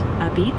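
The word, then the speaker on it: apizza: Uh they have a unique style called a pizza, pronounced a beat, that's really famous, and places like Frank Pepe Pizzeria and Abolatana are iconic.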